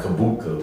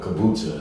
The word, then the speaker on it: kombucha: You will find kabuka, which is or kombucha, it's pronounced both ways.